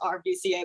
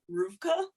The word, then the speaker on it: RVCA: from my partner because I always thought it was rdca but apparently you pronounce it because it's like skateboard and Surf and I'm like I'm not a border but it's pronounced Rua Rua yeah I I